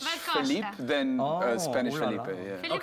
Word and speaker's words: Filipe: Yeah, Filipe. Almost like there's no E in the middle. Yeah. Like Filipe. Kind of like closer to French Filipe than Spanish Filipe.